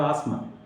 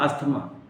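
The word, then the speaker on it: asthma: मेरे अस्थमा की बीमारी है तो I have आसमा, नॉट अस्थमा। T drop किया जाता है, बहुत सारे लोग नहीं जानते हैं, जनरली सभी अस्थमा ही बोलते हैं, बट दैट इज not right pronunciation dear friends, okay.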